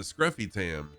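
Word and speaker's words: Scrufy Tam: And like even my name, technically my name should be pronounced Scroofy Tam, because there's only one F after the U, so that changes the U from a to a U. So it should be Scroofy Tam. I pronounce it Scruffy Tam.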